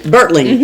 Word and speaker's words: Bertling: Bertling, thank you.